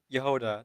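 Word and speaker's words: Jahoda: Yehoda, that's how her name is pronounced in the English.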